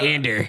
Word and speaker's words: Andor: It's actually Cassie and Ander. Cassander. Ander. It's Ander.